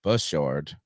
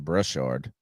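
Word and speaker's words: Bashaud: the and I think I've always pronounced his name his name is bashard I've always called him brushord bushard Breeland he's one of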